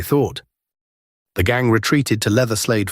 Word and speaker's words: Leatherslade: The gang retreated to Leatherslade Farm, pronounced Letherslade, an isolated property in Oakley, Buckinghamshire, purchased weeks earlier as their hideout.